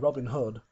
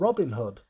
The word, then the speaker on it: Robin Hood: In the UK, Robin Hood. Hood is the accent. It's Robin Hood. But in the US, he tends to be called Robin Hood, where the accent is on Robin, and I'm not too sure why.